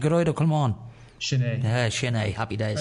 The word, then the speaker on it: Gearóid Ó Colmáin: So that's how you pronounce it, Gearóid Ó Colmáin.